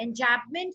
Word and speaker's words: enjambment: एंजैबमेंट की स्पेलिंग में am silent है, ENJAMB।